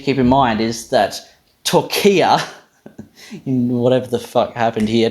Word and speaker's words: Türkiye: And so perhaps what happened is the radio host heard what he thought sounded very much like this sort of long closed front unrounded vowel, and he just assumed that, oh, it's only going to be long if that's where the stressed syllable is. So that's how he turned Türkiye into Türkiye, right?